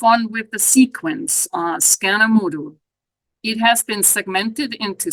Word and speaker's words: skanomodu: and the ending U reflecting scan with a long a also mood with a long o I should add that